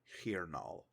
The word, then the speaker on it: hirnal: own notes consistent that the seventh month of the year is called hirnal an r and an N right next to each other look a